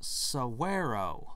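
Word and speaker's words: saguaro: surprisingly animated weirdly two-dimensional cigarro cactus pronounced suwarrow oh okay with an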